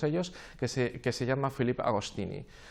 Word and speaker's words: Agostini: que se llama Philippe Agostini, o Agostini, como pronuncian los franceses.